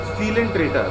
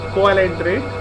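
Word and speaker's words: coelenterate: सीलेंट्रेटा, तो इसमें एक वर्ड है सीलोम, पढ़ा जाता है इसको सीलोम, स्पेलिंग लेकिन COELENTRATE है, पर इसका प्रोनाउंसिएशन क्या है? सीलेंट्रेट। इट्स नॉट कोएलेंट्रेट, इट्स सीलेंट्रेट।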